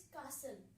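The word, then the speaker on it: castle: कासल में क्या है अपना? टी साइलेंट है। ओके? सो अगर कासल में टी को आप प्रोनाउंस करेंगे तो आपका वो फ्लो नहीं बन पाता जो कासल बोलने से बनता है।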